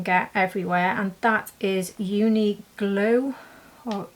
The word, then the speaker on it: Uniqlo: But this brand I think you can get everywhere, and that is Uniglow, or spelt with a Q, this brand. I'm sure you've heard of them. Uniqlo.